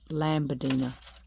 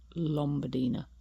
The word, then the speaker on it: Lombadina: I keep calling it Lombadina. It's actually Lombadina.